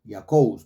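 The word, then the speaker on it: Iacobus: que fue llamado Jacob ahora en el latín el nombre Eh se pronunciaba yacus jacobus porque Recuerden que en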